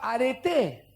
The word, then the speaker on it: arete: En realidad este es con acento en la E, ¿no? En la E final.